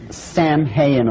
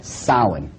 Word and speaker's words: Samhain: call it sa now when you look at the name it looks as if it's saying Sam hayan or something like that no no no no this is properly pronounced in the ancient Gaelic as Sin Sin according to Ault